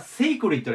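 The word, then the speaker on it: sacred: おきましょうで次これ読み方がセークリットですクリッでクリッは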